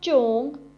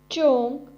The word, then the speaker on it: zhong: The next Pinyin is ZHONG, has a pronunciation of chong, chong.